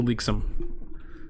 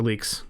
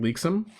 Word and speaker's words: Leaks: Let's go say hi to Leaksum. Or Leaks. Her name is very strange. I keep pronouncing it Leaksum, but it's just Leaks.